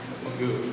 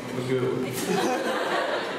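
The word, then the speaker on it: Migo: It's not Mago? No, Magoo. Magoo. Because it spells like Mago. No, it's Magoo.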